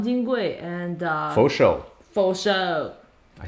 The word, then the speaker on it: Fo Shou: Fo Shou.